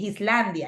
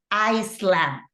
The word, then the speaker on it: island: Esta sí se pronuncia así, Iceland, pero esta en particular, cuando nos referimos a una isla, es island, ¿ok? Yo me acuerdo que la aprendí a pronunciar porque, no sé si alguno de